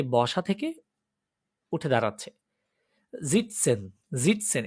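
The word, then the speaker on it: sitzen: জিটসেন, জিটসেন এটা কিন্তু সিটজেন না, অ্যাকচুয়ালি এটা ঝ, অনেক সময় বলেছিলাম আমি এসটা ঝ এর মতো প্রোনাউন্সিয়েশন হয়, তেমনটা এখানে।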